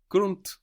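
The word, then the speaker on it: Grund: do you think you might say ground grun grunt good g r u n d and that D pronounce I could T grun round run run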